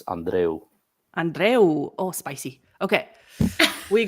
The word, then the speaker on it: Andreu: origin, even though I am from Cuba, and in Spanish it's Andreu.